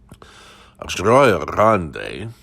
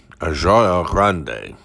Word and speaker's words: Rio Grande: But I had obtained a very serious, after moving here to Rio Grande, at least that's how it's supposed to be pronounced. I still never get it right.